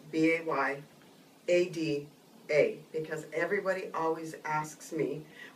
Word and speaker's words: BAYADA: So it's B A Y And it's pronounced Bayada, not Bayada. Just think of Kaneohe Bay.